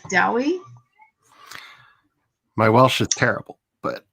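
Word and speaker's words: Dewi: It's not pronounced Dewey in Wales, though.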